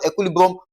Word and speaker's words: equilibrium: So, the stress pattern or the formula for stressing this guy is to stress the second to the last syllable again. Okay? So, for this particular word, equilibrium, we're still going to stress the what now?